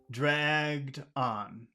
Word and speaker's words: dragged on: for a phrasal verb you put all the emphasis on the verb so how will you pronounce those two words together dragged and on dragged on dragged on dragged on draged dragged